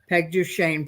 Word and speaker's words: Peg Duchesne: podcast guessing or something I'll put pegu Shane parentheses quote d o dash s n that is so they're appreciative because they have no idea how to say it and you know